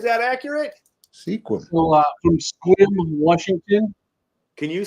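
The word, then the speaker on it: Sequim: there right is that accurate squim so from squim Washington can you say it out loud one more time for me squim s that's how it's pronounced okay Sim because I'll pronounce it wrong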